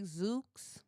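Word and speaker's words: Zoox: new it's called a I'ma say zooks it's it's spelled z-o-o-x it's a robo taxi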